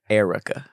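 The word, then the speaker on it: Airwrecka: Air, A-I-R, Recca, W-R-E-C-K-A, Erica. That's how you say it.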